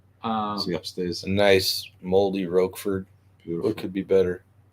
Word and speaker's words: Roquefort: There's no Rogue. It's Roquefort with a Q. I think it's with a Q. It's pronounced Roquefort. It's French.